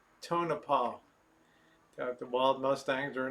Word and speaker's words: Tonopah: a wonderful one yep rosemon go back to turn upon wanna pronounce its Tonopah got the bald mustangs are down there we